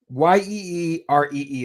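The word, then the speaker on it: Jiří: Yeeree is how you pronounce Yuri.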